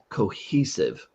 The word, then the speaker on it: cohesive: But the e is a long e, so it's cohesive.